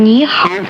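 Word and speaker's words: 你好: नी का उच्चारण हिंदी में नी के बराबर है और हाओ का उच्चारण हाओ के नजदीक है।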